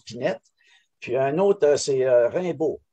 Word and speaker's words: Pinet: Mais elle a eu deux conjoints, un Pinet, nous autres on prononce Pinette, puis un autre c'est Rimbaud, René Rimbaud.